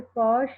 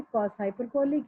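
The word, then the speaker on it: cosh: हाइपरबोलिक function, पहले भी मैंने आपको बोला था बहुत लोग इसे कॉश या शाइन करके प्रोनाउंस करते हैं, बेटा इसे कॉस हाइपरबोलिक या साइन हाइपरबोलिक प्रॉपर बोलिए।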